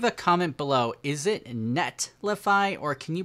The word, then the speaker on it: Netlify: can you pronounce it nellify because i've had many people say i mispronounce it but i always just say really quickly nullify and you don't really hear the t but it says netlify